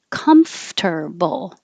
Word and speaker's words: comfortable: nice and short veggie this looks like comfortable but we never say it that way it's comfortable which is kind of